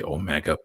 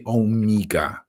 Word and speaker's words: Omega: think it would personally I think all English speakers and angle files and so on should say Omega but they say omga and you can there's